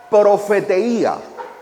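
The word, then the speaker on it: προφητεία: La palabra profecía, según el diccionario Vine, viene de una expresión griega que se pronuncia profeteía.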